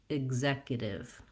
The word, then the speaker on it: executive: And then lastly, we have an unstressed tiv at the end with my lax if vowel. So let's try it all together. Executive.